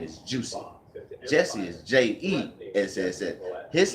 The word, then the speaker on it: Jussie: His name is not Jesse. His name is Jussie.